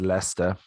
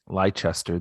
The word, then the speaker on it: Leicester: men they won against leicester lychester this is also an episode about a lot of british pronunciations lychester to uh leicester